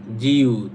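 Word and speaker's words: 지읒: জিউত, এই যে নিচে যদি যায় তখন এটার উচ্চারণ হবে ত।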